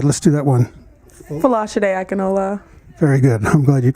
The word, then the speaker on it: Fola Akinola: Fola Akinola. All right, let's do that one. Fola Akinola. Very good. I'm glad you can pronounce it.